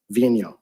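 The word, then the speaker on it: Vigneault: name we've all been debating about how to pronounce it properly Vino all right so David Vino he stated that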